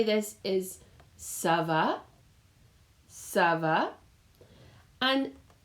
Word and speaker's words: ça va: And it's C-A, and you'll notice a little squiggle here underneath the C, and that makes it a sound. So the way we say it is ça va, ça va. And it's nice because it rhymes with itself as well.